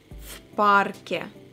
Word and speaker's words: в парке: Он гуляет в парке. Be very attentive. В and парке we should pronounce together, and в we pronounce as ф.